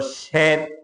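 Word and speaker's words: شیر: একটা হলো শের, আর একটা হলো শির।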